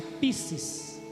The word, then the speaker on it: pistis: Se escreve Piscis no hebraico, aliás no grego, mas se escreve Pistis e se pronuncia Piscis, que é o quê?